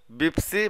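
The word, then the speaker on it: بيبسي: বিপসি বা বেপসি মানে হচ্ছে পেপসি। আরব কান্ট্রিতে পেপসিকে আরবিরা পেপসি উচ্চারণ না করে বলে বেপসি বা বেপসি।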